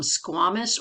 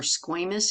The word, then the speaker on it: squamous: the cells are flat we call them squamous or squamous either word pronunciation's okay um if the cells